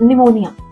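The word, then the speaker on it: pneumonia: Same is विथ निमोनिया। Same विद receipt. Yes. There is a silent P hiding in the middle of the world.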